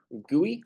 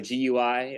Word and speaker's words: GUI: We have a GUI or a GUI. I pronounce it GUI. A lot of really older guys, if you have any professor or mentor that's been, programming bioinformatics since the 90s, they'll call it a GUI.